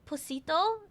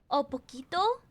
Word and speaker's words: poquito: In this case, it is not posito, it's poquito.